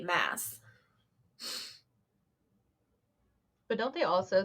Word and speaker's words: Maas: So I don't have to sit here going Sarah J. Maas, Moss, Mass, Mass, Moss. I still don't know. Okay, so in the audiobook, they say Mass.